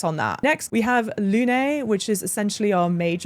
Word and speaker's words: Lune: In the game, it's pronounced Lune. If you're saying it in French, it would just be Lune. Lune literally translates to moon in French.